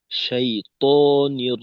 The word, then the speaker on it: শাইতানির: রাহমাতুল্লাহ আউজুবিল্লাহি মিনাশ শাইতানির রাজীম আচ্ছা আব্দুর রাজ্জাক ভাই আপনার আউজুবিল্লাহর ক্ষেত্রে তর উচ্চারণটা মাঝে মাঝে তা এর মধ্যে শোনা যায় তা এখানে ত শাইতানির রাজিম। ততে আরেকটু জোর দিতে হবে আর কি।